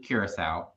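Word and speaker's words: Curaçao: like no it's blue correct no it's blue curacao and she's like whatever we have it in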